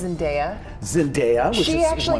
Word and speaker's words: Zendaya: Did you know, by the way, it's actually pronounced Zendaya?